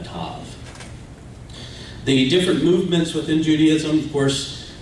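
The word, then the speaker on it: ת: One letter, the Tav. Ashkenazics pronounce it as a S, Sav, and Sephardic pronounces it as a Tav. In modern Hebrew in Israel, they use the Sephardic pronunciation, so it's a Tav.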